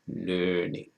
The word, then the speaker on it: LEarning: I say it just like that, learning.